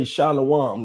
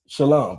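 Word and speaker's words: שלום: Um but yeah, and also we don't say shalawan. That's actually the verb, the the actual peace is shalom, brother. That's how you say it in Hebrew.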